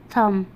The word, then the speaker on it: thumb: अब देखिए थम, थम, देखिए बी यहाँ पे है, THUMB थम, थम मीन्स अंगूठा, ये भी है तो हम इसको नहीं पढ़ेंगे।